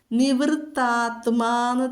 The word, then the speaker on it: നിവൃത്താത്മാ: നിവൃത്താത്മാന്ന് തന്നെ പറയണം, ആത്മാവല്ല. സംസ്കൃതത്തിലെ അല്ല, അത് ത ആണ് കേട്ടോ.